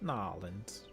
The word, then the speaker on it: New Orleans: Nolans.